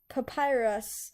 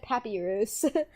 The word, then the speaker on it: Papyrus: it but different stories papyrus papyrus oh okay i was close i said papirus i don't know i didn't know how to pronounce it you guys were